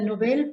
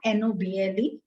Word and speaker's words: Nobel: nobel prize right but this is not noble this is nob el so it is pronounced